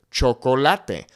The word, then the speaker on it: chocolate: English, chocolate, and then we can say it in Spanish, chocolate. Remember, the easiest and fastest way to have that perfect pronunciation in Spanish is to focus on the vowel sounds. The only thing that's changing here is my pronunciation of the vowels.